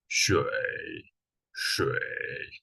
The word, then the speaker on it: 水: falling rising tone, but I'm gonna show you a really interesting way to pronounce it. Imagine yourself like a zombie, like when you pronounce 水, just make your voice lower.